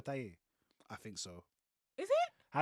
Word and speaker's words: Taye: I am Taye Diggs. Who? Taye Diggs. Wait, who? Taye Diggs. That's not how you say it. It's Tay.